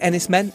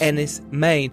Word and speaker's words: Enys Men: It looks like Enys Men is pronounced Enys Men, and in Cornish it means Stone Island.